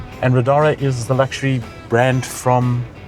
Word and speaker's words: Riddara: I'm sitting in a radara. Is that the correct way to pronounce it? That is correct. And Rodara is the luxury brand from Gili.